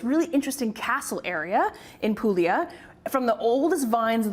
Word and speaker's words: Puglia: of Italy pulia and it's spelled pug L A but said pulia without the G or aulia actually in